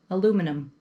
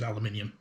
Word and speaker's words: aluminium: was the best place for it because you pronounce it differently anyway over here but um aluminum which is aluminium and that i didn't even realize this that